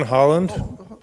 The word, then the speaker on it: Holland: my name is Holland live at 710 CGI Street sir please St your name and spell it addad is Holland like the country h o l l